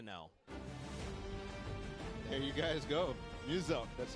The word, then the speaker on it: Muselk: Muselk. So it's like muse and elk. Muselk. It's very easy, okay? Even I had to know. There you guys go. Muselk.